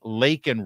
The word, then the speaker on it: Laken: luck Trojans fight on it's not Lincoln Riley her name is lakan Riley margerie Taylor green saying